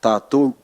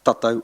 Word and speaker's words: tātou: So tātou it's most people would pronounce it tātou. It says it is dragged out, tātou. Te arawa is tātou, rātou, mātou, very quick.